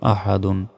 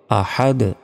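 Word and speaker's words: أحد: দাল দুই পেশ দুন আহাদুন থামলে উচ্চারণটা হবে আহাদ আহাদ শেষে এই দালটা কলকলা হবে মানে ধাক্কা দিয়ে পড়তে হবে আহাদ কুলহু আল্লাহু আহাদ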